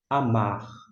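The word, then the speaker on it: אָמַר: Portanto, em nossa língua portuguesa a gente pronuncia amar. Lembrando que esse R, via de regra é é tremulado.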